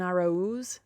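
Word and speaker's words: Araúz: to joey gallow and araus jonathan arrows that's how you say his name he was the one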